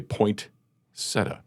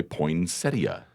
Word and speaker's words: poinsettia: I've heard people say poinsetta. I've also heard people say poinsettia.